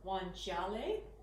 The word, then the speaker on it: guanciale: dry cured pork cheek or juan chale which is how they say it in italian so if you haven't